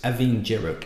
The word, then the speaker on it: Abhainn Dearg: place called uik which is uig so it's aing jerro in uig just letters thrown everywhere on the aisle of Lewis which is pronounced how it's spelled I don't get it